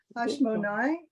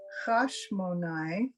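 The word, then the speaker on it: חשמונאי: Hashmonai. And that's Hasmonean, right? So Oh, I said it wrong too. It's Hashmonai Uvanav Keshe Amda Mahut Yavan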